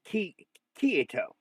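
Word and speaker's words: Kirito: It doesn't sound like the R is very hard. It's like it's not Kito. It's It's like it's key Kito.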